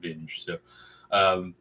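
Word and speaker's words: Vinge: both ways yeah uh the guy in england that i watch for book reviews pronounces it benji so i don't know if he's met him and but he calls him benji instead of binge fire upon the deep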